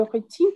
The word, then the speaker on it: rythme: pour réduire le stress, le stress et le rythme de la vie quotidienne.